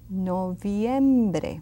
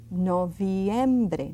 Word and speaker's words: noviembre: Noviembre. See that V, that I and an E? Pronounce them all. Don't leave anything out. Noviembre.